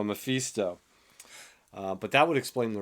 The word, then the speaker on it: Mephisto: And then Memphis, or however you say his name. Mephisto. Memphis. It's not that of a country. It's the devil. Yes, the devil went down to Memphis. No, Mephisto.